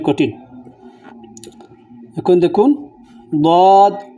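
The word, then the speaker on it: ضاد: দিক, তবে সহজ হলো জিহ্বার বাম দিক, তার মাড়ি দাঁতের সঙ্গে লাগালে দদটা উচ্চারিত হয়।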